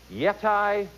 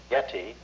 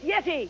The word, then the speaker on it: yeti: proper name for the abominable snowman is it yetai yak or yoda jim that's pronounced yeti yak or yoda is it yeti yak or